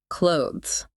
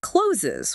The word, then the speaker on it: clothes: The correct pronunciation of clothes has a silent E at the end, rhyming with rose. However, a lot of people mistakenly pronounce that E, making it sound like closes, which is incorrect.